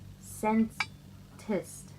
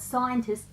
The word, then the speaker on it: Scentist: the last things missing yeah the it is pronounced sense test like not scientist sent its centers not scientists people because I'm